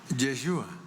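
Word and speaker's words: ישוע: Y cuando uno estudia o investiga el nombre Jesús, el equivalente en hebreo, el equivalente en hebreo es Josué. Josué, que es lo que se pronuncia Yeshua, Josué.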